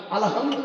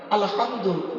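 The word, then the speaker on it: الحمد: আলহামদু নয়, আলহামদু। এই গলার ভেতর থেকে এটা উচ্চারণ হবে, হাই হটি হাই হব্বাস নয়।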